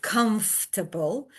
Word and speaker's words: comfortable: at the end of comfortable? You can draw stress circles to show that in English, for example, the the stressed syllable is at the very beginning.